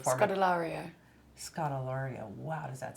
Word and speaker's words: Scodelario: have to do your last name market ilaria Scott Ilario Wow does that sound good didn't he say